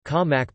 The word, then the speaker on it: Khao mak: Khao mak, Thai, ka mak pronounced k-a-m-a grave k, also known as Thai fermented